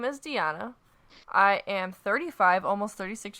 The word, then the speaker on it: Deanna: story comes from Deana my name is Deanna I am 35 almost 36 years old what never mind what is it Deana or deanna deanna I'm sorry okay they even